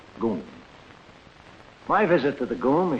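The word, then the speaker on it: GUM: the state-operated department store the goon spelled g-u-m pronounced goon my visit to the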